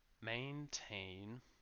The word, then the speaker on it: maintain: It has two syllables, maintain, and the two sounds are exactly the same. A, except that the second syllable is a bit longer because it carries the main stress.